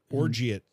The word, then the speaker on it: orgeat: lime juice, and orgeat syrup. What is with the words that I don't know how to pronounce? You see that? Oh, wow. Orgeat? Orgeat? O-R-G-Y-A-T? No, O-R-G-E-A-T.